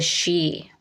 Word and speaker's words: Sidhe: great glyph of the she. And the she, spelled, I believe I'm pronouncing that correctly, it's spelled like Sidhe.